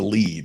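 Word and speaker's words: lede: In journalism, they call it burying the lead, right?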